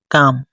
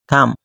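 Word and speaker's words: calm: ডাকা খল অর্থ ডাকা কাম এখানে এল টা সাইলেন্ট অবস্থায় আছে এটার উচ্চারণ হয় না কাম শান্ত থামলি থামলি অর্থ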